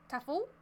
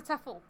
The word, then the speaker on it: tafel: I would say tafel. Less E, so tafel. Oh, so tafel.